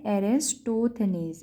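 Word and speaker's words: Eratosthenes: ये हमें दी थी ग्रीक मैथमेटिशियन एरिस्टोथेनेस, ठीक है, एरिस्टोथेनेस, इसको ये प्रोनाउंस करेंगे, ठीक है।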